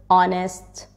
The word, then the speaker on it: honest: knee no knife words that start with WR is silent right rank h but our honest honor was Hotel Hospital fasten your seatbelt fasten